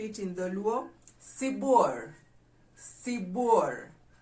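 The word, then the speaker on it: sibuor: in the luau sebor sibour so when i say sibor is not c for cat it's c for s how do we spell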